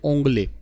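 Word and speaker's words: Ongole: साहीवाल नस्ल के एग और स्पर्म थे और ओंगल, जो ओंगले इसको प्रोनाउंसिएट कर सकते हो, आंध्र प्रदेश की ब्रीड है ये, उस पर ये ऐसा ट्राई किया गया है।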